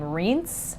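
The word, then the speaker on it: Rience: i call him ryan's i think that there is a a few different ways that you can pronounce his name um i think in gwent they actually pronounce his name rince rince i'm not sure how they're going to pronounce his name in the show but the audiobooks pronounce his name ryan's so i'm kind of used to calling him ryan's so forgive me if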